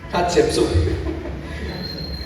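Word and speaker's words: Hatshepsut: Hsepsu, pronunciemos Hatsepsu.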